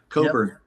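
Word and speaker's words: Cockburn: Well, now he was in The Children with Bruce Coburn. I took that back. Coburn. Yeah. See, that's another one that I mispronounced until somebody corrected me, because it's spelled Cockbur. Yeah. So Coburn.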